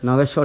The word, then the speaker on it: নাগেশ্বর: তো দেখাতে পারবো না নাগেশ্বর উচ্চারণ হচ্ছে নাগেশ্বর জ্যোতির্লিঙ্গ হচ্ছে এটা দেখুন